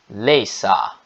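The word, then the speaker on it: læse: E a pronúncia é leisa, leisa.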